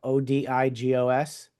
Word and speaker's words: Odigos: Odigos. Yep, that's it. As it's spelled.